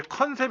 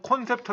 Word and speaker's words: 콘셉트: 하디 않는 폰 3 우리가 이제 컨셉 이라고 부르지만 컨셉은 발음은 컨셉이라고 하지만 외래어 표기법은 콘셉트 라고 합니다 콘셉트 에 이런 컨셉을